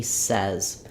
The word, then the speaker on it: says: memorize this word that rather than saying um he says or he says that it's actually he says also the letter s says the z sound in this word as it does in many words at the end and so picturing it